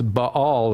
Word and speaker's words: Ba'al: the title so to speak so it's it's b all is the way you pronounce it and it's semitic for owner or